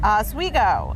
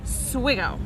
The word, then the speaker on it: Oswego: asigo river meets Lake Ontario now asigo is pronounced asigo although some locals tend to call it sgo right something like that that that's a that's